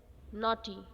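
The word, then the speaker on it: knotty: तो वह वर्ड है नॉटी यहां पर यह नॉटी वह शैतान वाला नॉटी नहीं है दूसरा नॉटी है इसमें के साइलेंट है तो नोटी का मतलब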